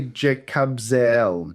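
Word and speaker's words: Jekabzeel: So I would say Jacob Zel. Jacob Zel. Jacob. Jacob Zel. So it's that the Zl is not zeal. No, it's not zeal. very separate E sounds.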